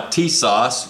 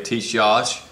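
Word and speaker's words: Tisas: This gun you're looking at here is a Stingray built by Tissas. You can pronounce that different ways. T-I-S-A-S. Some people say Tissas. I can't do that, so just Tissas.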